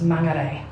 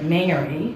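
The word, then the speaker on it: Māngere: know how to pronounce Mangere. I had no idea, and so I had to go everyone was pronouncing it Mangere. Yeah, so they're getting it wrong still, but they're making fun of you for getting it wrong.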